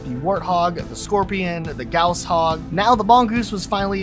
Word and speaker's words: Gauss Hog: be replaced with the Gauss Hog, and yes, that is how you pronounce it. If you thought otherwise, you're wrong.